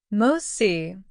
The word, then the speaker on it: MOTS-c: MOS, pronounced MOS, is short for mitochondrial open reading frame of the 12S ribosomal RNA type C.